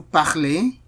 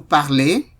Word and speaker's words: parlez: Vous parlez. Il parle. Elle parle. So, note that the ENT here is silent. You can see certain things that I have not been pronouncing. Vous parlez.